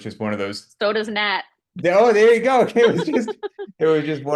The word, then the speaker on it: Nat: did you know and my name rhymes with fat you know so it was just one of those soda's Nat oh there you go